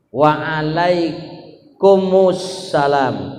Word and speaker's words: wa alaikumussalam: Lalu untuk menjawabnya wa alaikum assalam, mim sukun ketemu alif lam as itu didomahkan. Jadi wa alaikumussalam, wa alaikum assalam bacanya gimana? Wa alaikumussalam. Berarti yang menjawabnya wa alaikumussalam ada yang kurang huruf apa? Domah ya, mimnya kurang domah. Berarti kalau ditulis Indonesia wa alaikum salam yang mestinya wa alaikumussalam, berarti kurang apa?